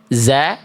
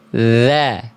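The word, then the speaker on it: ذَ: Bukan za tapi dza.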